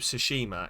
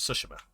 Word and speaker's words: Tsushima: to keep remembering that you don't put emphasis on any syllable in Japanese it's all just that's why it's not ghost of tsushima it's ghost of sushima because there's no emphasis in Japanese it's like the eye